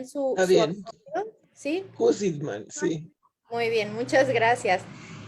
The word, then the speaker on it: Jusidman: Dígame, por favor, doctora, si estoy pronunciando bien Está su bien. apellido. ¿Sí? Husitman, sí.